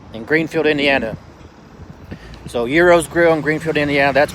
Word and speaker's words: gyros: i'm an idiot and i keep saying gyros because it's spelled the g and it's euros anyways i've had something similar